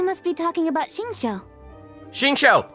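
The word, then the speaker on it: Xingqiu: be talking about shinsho shinsho that's how you pronounce his name hyman didn't know they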